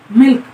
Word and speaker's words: मिल्क: मिलक जिसको बोलते हैं, मिल्क नहीं बोलेंगे, मतलब मिलक होता है उसका, उसको मिल्क हम लोग इस भाषा में बोल देते हैं, और उसको सही प्रोनाउंसिएशन अगर उस लैंग्वेज में किया जाए, उनके उसमें किया जाए, तो उसको मिलक बोलते हैं।